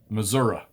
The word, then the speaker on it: Missouri: wrap this puppy up in missouri in missouri missouri that's how you say it show me finished